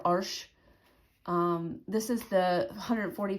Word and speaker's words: Arches: in France it's also it's pronounced in French arches um or arsh um this is the